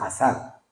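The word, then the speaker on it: עזר: En hebreo se pronuncia azar, con Z, que es asistir, que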